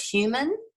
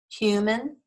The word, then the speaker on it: human: and so it is here's human and that has the schwa sound in the second syllable because the first one is accented stress human uh it sounds like a short human and then here's was